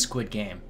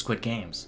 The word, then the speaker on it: Squid Game: it's crazy to me it's squid game yeah it's not there's no s everyone always pronounces quit games yeah i don't know